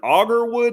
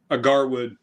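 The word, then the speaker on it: agarwood: But it is a simple pine resin, and is it auger wood? Is that how you pronounce it? Agar wood. Agar wood, guys.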